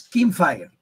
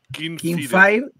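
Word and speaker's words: Kinfire: Kingfire. Kingfire Chronicles. No es Rey, es Kim de Kim Basinger. Skin de Skin.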